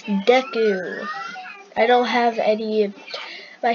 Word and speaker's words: Deku: Hey, look, it's Deku. I don't have any My Hero Academia skins, and don't tell me I'm saying it wrong. It's Deku. D-E-K-U is how you spell Deku.